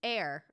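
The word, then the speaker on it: Aire: new name new baby air oh it's just pronounced like air that's annoying but I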